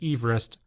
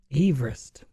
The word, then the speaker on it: Everest: The correct pronunciation of Mount Everest is Everest. I have never heard that. It's named after Sir George Everest, a surveyor from Wales, and that's how his last name was pronounced. Everest. Everest.